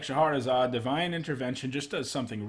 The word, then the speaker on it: Shahrazad: talked about Shahrazad, and yes, guys, that's how you normally pronounce it. Wizards chose to spell it in a pretty strange way. Look up the literary character. It is Shahrazad.